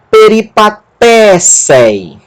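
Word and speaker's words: περιπατήσῃ: E aqui é a sílaba tônica, tá aqui o acento, té. Peripaté. Sigma, eta, sé. E nós temos aqui um iota pequenininho debaixo do eta. Eu vou falar sobre esse iota posteriormente. Isso é um iota subscrito. Ele também se pronuncia. Então, peripatécei.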